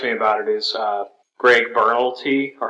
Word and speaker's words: Berlanti: The thing that excites me about it is Greg Berlanti, or how do you say his name? Berlanti.